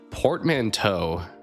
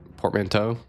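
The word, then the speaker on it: portmanteau: Portmanto. That's like a uh French thing. I feel like anytime there's like an e aux, I think of like French typically.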